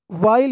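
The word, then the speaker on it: while: Drinking पीते हुए, वाइल यानी के समय, के दौरान। तो इसको पढ़ेंगे वाइल, इसको कुछ लोग पढ़ते हैं वाइल, वाइल नहीं है, इसको हम वाइल पढ़ते हैं। यहाँ पर एच साइलेंट है, ठीक है।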